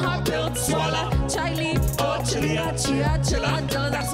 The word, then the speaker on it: Chaila: My name's not that hard to pronounce. No, pre-K's not profound. C-H-A-I-L-A. Sound the words out. It's not Chile, it's not Chilala. Yo, not hard pill to swallow. Chaila or Chilea, Chia, Chila.